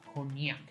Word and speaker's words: coñac: Well, do you know the word cognac? That's the sound, cognac. Actually, for Spanish, cognac is written cognac, as in me sirve un cognac, por favor.